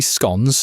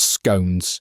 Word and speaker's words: scone: Complimentary scon. That's how it's pronounced, by the way, not scones.